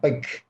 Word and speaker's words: Bakke: Yeah, Bakke. Just Bakke.